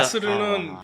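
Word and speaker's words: مصر: 발음이 좀 다른게 아니라 마스르는 시내에서 쓰는 말이고 표준은 미스르 그니까 이제 이집트 발음으로는 마스르가 되고 이제 진짜 표준 아랍으로는 미스르가 같 아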